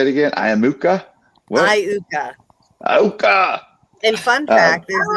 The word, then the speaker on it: Iuka: Iuka.